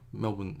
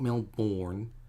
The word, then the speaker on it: Melbourne: It's not Melbourne. Forget the born. It looks like it's born, but it's not born. Don't say it like that.